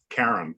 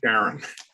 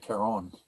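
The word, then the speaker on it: Charon: a question um in greek mythology c-h-a-r-o-n is pronounced karen all right right not aaron uh that's uh probably joe well i think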